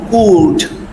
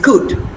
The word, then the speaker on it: could: These words are not pronounced as could, should would. If you say so, you are using the wrong pronunciation. So, it is could should and would.